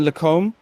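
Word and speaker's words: Les Combes: come down to uh there's a few ways to pronounce it but the lacombe is uh is the correct pronunciation as we come down through um here we come down through the lucumba um we come down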